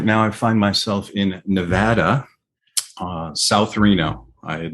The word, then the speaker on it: Nevada: corrected by locals that it's nevada is the correct that fat a is the right way to say it i'm from the east